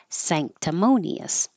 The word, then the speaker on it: sanctimonious: C sank sanct tonius so the N will sound like a NG combination when it's before for a k or a g sanctimonious treacherous treacherous this has